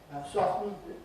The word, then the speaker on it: soften: Soften again. Actually with the word soften I've hardly ever heard anybody put the tea in the odd eccentric